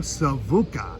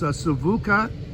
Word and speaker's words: Sivuca: from some of my favorites, he's passed now, Savuka from Brazil, and he's aware, he knows Savuka,